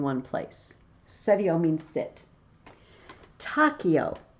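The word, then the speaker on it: taceo: Tachio, or tacheo, if you want to do ecclesiastical pronunciation.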